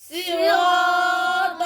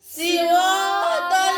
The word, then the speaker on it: صراط: সিরাতাল্লাযীনা, صراط الذين তোমার সিন উচ্চারণ হয়, সিন হবে না, সি সদ।